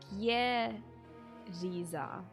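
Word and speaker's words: Jeritza: Oh, I was pronouncing with a soft J as well. Geriza. That's very different. That's very, very different. I would imagine it was U-D-za. But they say Geriza.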